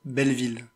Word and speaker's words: Belleville: the uh Triplets of Belleville I love you I pronounce that hi it seems someone called the French pronunciation police so I'm here to tell you that it's pronounced The Triplets of Belleville thank you for your